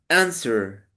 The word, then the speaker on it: answer: Okay, feedback in pronunciation. Answer.